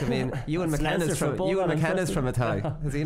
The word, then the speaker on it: Athy: I'm just laughing at how I was reading the pronunciation in your notes. So I was reading it Athy. Athy beats Selbridge. Atty. Jeez, that's a disgrace. You don't know a tie.